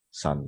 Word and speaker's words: sun: Tapi put U juga ada yang dibaca A, sun ya, matahari, sun dibaca sun ya.